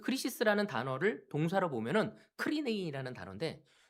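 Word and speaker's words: κρίσις: 근데 이거를 헬라로 찾아보니까 아 크리시스 똑같은 단어더라고. 크리시스라고 읽을 때만 좀 다르더라고요.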